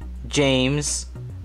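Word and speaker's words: Jaymes: other way Valentina Isabel Juliet ah BIA Knox James with the Y like J a ym es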